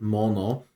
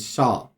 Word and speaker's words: 者: So, this came up earlier when we were talking about this previous to the video, that this kanji can be pronounced mono and sha.